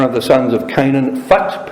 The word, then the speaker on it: Phut: It's originally one of the sons of Canaan, Phut, P-H-U-T, sometimes pronounced Put. So Phut or Put, and later it became known as the area of the Lubims.